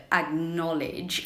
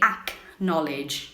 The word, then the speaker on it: acknowledge: your pronunciation tip everyone you're not supposed to say ACK knowledge no way it's more like a G sound so it's like acknowledge very important tip this